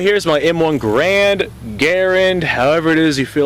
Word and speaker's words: Garand: And I mean, John Garand said his name rhymes with Aaron, but here in the United States we say Grand, so it is what it is.